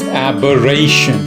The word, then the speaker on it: aberration: Today's word is aberration. Notice the spelling. Aberration. 4 syllables. Aberration. Stress on ray.